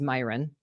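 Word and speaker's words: Miran: His last name is Myron. We learned that that's how you say it yesterday. I've been calling him the wrong thing for a long time. Mirum. Mirin. It was like Mirren. Anyway, it's Myin.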